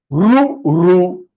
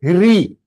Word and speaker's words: ऋ: इसे काफी लोग, many of them, they pronounce this as ri. That is wrong pronunciation in Sanskritam. It can be a right pronunciation in Hindi. Hindi में उसे री कहते होंगे, नॉट इन संस्कृत. संस्कृत में ये रू है, रू.